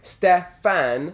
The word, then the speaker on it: Stefan: If you want the perfect pronunciation, which I do, how you'd say the word step, but remove the P and add fan, so more like Stefan instead of Stefan.